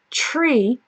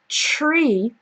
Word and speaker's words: tree: see that at the beginning of tree my tongue is not between my teeth okay so for um three then my tongue is between my teeth but for tree it's not all right so that's the